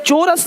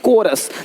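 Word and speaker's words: chorus: चोरस नहीं, कोरस।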